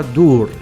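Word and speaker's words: דור: La parola palla è stata tradotta dalla parola ebraica duvr, pronunciata dur, cerchio, palla, volta, rotatoria.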